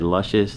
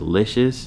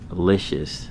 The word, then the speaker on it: Licious: I said luscious. The correct way to say it is licious. Wanted to go ahead and shout out Birdman for correcting me. The correct way again to pronounce it is licious, not luscious.